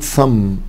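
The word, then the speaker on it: thumb: عندي مثلا كلمه شكل كلمه صم صم طبعا البينه سايلنت حبايبي لو انا قلتها بالمنظر ده صم هو نفس النطق بس التي اتش بقت سهل هتدينا كلمه تانيه خالص وهي مساله حسابيه فعشان كده مهم جدا ان التي اتش انطقها سهل ما نطقهاش سهل شكل كلمه مثلا سنك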